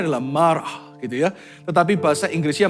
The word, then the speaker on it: Marah: Marah itu dalam bahasa Ibrani-nya kalau pronunciation-nya adalah marah gitu ya.